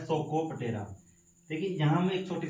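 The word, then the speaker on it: Psocoptera: देखिए P silent रहेगा इसमें, सोको, यहाँ से हम सोको पकड़ेंगे। और बुक पढ़ते पढ़ते नींद आ गई थी ना आपको, बुक लाइस, तो सोकोपटेरा में कौन सा इंसेक्ट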